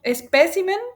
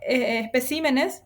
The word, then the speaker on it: espécimen: Tengo espécimen, perdón, espécimen en su singular y especal. Sí. Y ahí salta la tónica a otra sílaba. Sí. En el caso de especímenes, eso ya solamente sabiendo,